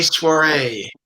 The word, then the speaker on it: soiree: We are calling it the May Soiree, which rhymes when you say soiree right. When you say it wrong, it doesn't rhyme.